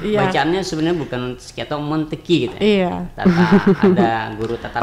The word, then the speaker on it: Montesquieu: Dulu saya ingat betul nih, sebenarnya bacaannya bukan Montesquieu ya. Iya, Montesquieu atau Monteki gitu. Ya, saya ingat benar dulu waktu SMA tuh. Ini bacaannya sebenarnya bukan Montesquieu atau Monteki gitu.